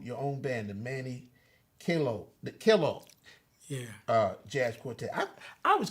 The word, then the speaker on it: Kellough: Would you say It's an Irish name. It's really Kellough. Kellough? Kellough. Yeah. Yeah. Kellough. So O-U-G-H. do people call you Manny Kellogg? Some Oh, of them Kellough. try to pronounce the last Kellough. name. Kellough. I've been called all kind of names. Kellough. Kellough. But it's really Kellough.